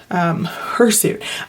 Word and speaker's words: hirsute: This word, hirsute, I've never heard of that before, and it literally sounds like hair suit, which means hairy.